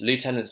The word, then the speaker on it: lieutenant: Lieutenant is an American word, so I don't know how the Americans pronounce it, but I would say lieutenant. Lou, Lou, Lou, Lou. Tenant, tenant, lieutenant.